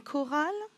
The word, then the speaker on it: chorale: Ici, le graphème CH va se prononcer K, comme dans une chorale, des chœurs et des choristes.